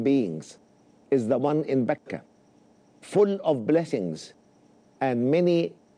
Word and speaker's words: Mecca: And Mecca can be pronounced with an M, Mecca, or with a B, Mecca.